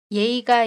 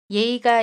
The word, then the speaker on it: 예의: 예의가 있다 We will look at the meanings of '예의' and '있다'. 예의 It can be pronounced as either or .